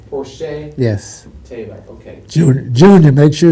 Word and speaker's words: Porcher: else sure and your your first name is pronounced Porsche Porsche Porsche yes okay Junior make